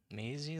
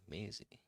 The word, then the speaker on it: Maisie: Maisie, like Daisy with a D, with an M. Daisy with an M. Maisie.